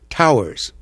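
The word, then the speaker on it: tours: rig workers call shifts Towers it's spelled t o uur but for some unknown reason it's pronounced like Tower t o w r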